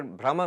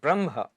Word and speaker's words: Brahma: lord of mistakes it's it's a misprononunciation of braha brahma means the vast the lord who is the vast the infinite but if you mispronounce it just a little bit then brahma becomes brahma brahmade I said brahmadev is